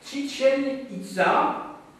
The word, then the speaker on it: Chichen Itza: Alors, vous remarquerez que je prononce les noms de ces sites à l'espagnol, parce que ce sont les Espagnols qui ont conquis le Mexique, et que donc on va prononcer ces noms en espagnol.